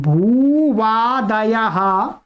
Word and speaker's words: भूवादयो: भूवादयो धातवः, बस इतना ही ध्यान रखना है कि भू वा बोलना है, बा नहीं बोलना है, ठीक है। भूवादयो धातवः, ठीक है। चलिएगा, पदच्छेद देखते हैं। भूवादयः प्रथमा विभक्ति बहुवचनांतम धातवः प्रथमा विभक्ति बहुवचनांतम।